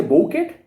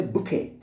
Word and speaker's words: bouquet: But do we say bouquet? No, we say bouquet.